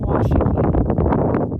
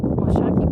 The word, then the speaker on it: Washakie: I'm saying Washakie. It's a long A sound, and I think it's Washakie. Anyways, they said I should beat bag it, so I'm gonna try. Washakie Peak.